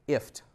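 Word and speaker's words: IFTTT: this then that and you pronounce it if like gift without the G so you can communicate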